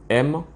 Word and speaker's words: monsieur: Bien que dans l'étymologie du mot monsieur, monsieur s'écrit M-O-N-S-I-E-U-R. Du genre, et on dit monsieur. C'est comme ça que ça se lit. Ça se lit monsieur.